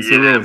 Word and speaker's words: Cerose: Cerose, my correction, Cerose.